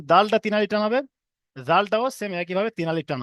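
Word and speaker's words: ذال: না পড়ে দিই, জাল, জাল বলবেন না কেউ, কারণ এটা জাল, এটা হালকা করা হবে। এটা যখন উচ্চারণ করবেন সবাই, দেখেন এ, জিভের আগা এবং উপরের দাঁতের আগার সঙ্গে ঠেকবে, জিভের আগাটা গিয়ে উপরের দাঁতের আগার সঙ্গে ঠেকে জাল উচ্চারণ হবে।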